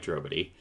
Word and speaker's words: Drobotij: fellow veteran game master drobity uh pronounced nobody quite like drobity uh so uh